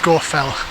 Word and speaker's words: Scafell: pronunciation of the name if you actually look at old ordnance survey maps it used to be spelt s-c-a-w so score fell and uh in carlisle